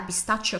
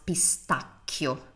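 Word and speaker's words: pistacchio: cold coffee and a pistachio croissant thank you grazia notice that we pronounce Pistachio Pistachio Pistachio because H makes sounds hard always in Italian I have a video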